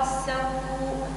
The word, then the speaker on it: السوء: ولقد اتوا على القريه التي امطرت مطر السوء. لا السو اقطع الصوت عند الهمزه السو هكذا مطر السو مش السو اسمها همزه قطع هي قطع الصوت عند النطق بها السو مش السو سو